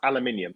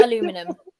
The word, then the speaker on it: aluminium: do you spell color how do you pronounce aluminium no you know what you're going to trigger me it's not aluminum i just say tin